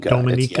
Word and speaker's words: Dominica: that one wrong well it's a confusing thing because when you say that people assume often that you're talking about the Dominican Republic right they're spelled the same it's simply where you put the emphasis on the syllable and Dominica Dominica was